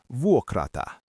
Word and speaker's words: vuokrata: The verb is vuokrata.